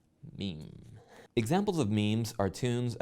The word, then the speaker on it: meme: the French word MIM it should be pronounced to rhyme with cream mean examples of means are